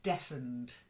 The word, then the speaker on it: deafened: okay then so Alexa the first word deafened to be deaf that means you can't hear to be deafened means maybe after an explosion not like defense that's to defend as a verb to